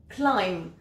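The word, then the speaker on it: climb: cas de consonne muette parfois le B ne se prononce pas quand il est en final par exemple et c'est souvent après un M si je prends le mot clim qui veut dire grimper bien ici le B est muet clim le W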